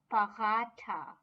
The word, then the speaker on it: paratha: which is written in german as it is but of course pronounce pahata so moving on the